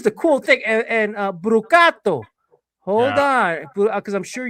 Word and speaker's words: Brucato: who who you your name came up properly pronounced by by Steve Concalves, who I spoke with. He calls you Brucato.